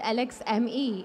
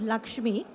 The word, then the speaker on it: Lakshmi: and ceo of lakshmi so while she said alex me it's pronounced as lakshmi and we are building india's